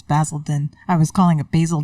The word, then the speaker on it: Basildon: Basildon X Essex England did I say it right no it's basil town no it's basil then I was calling a